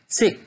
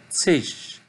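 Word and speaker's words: -zig: Vous pouvez constater à la fin de chaque mot, il y a le suffixe ZIJ La plupart des Allemands le prononcent zick, zick, mais d'autres le prononcent zig, zig.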